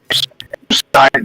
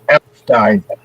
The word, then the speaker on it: Epstein: This is Epstein. Everybody says Epstein. It's actually pronounced Epstein.